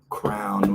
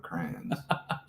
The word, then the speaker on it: crayon: hands at the dinner table and also say crown when they're talking about crayons. Crayon should actually be the pronunciation.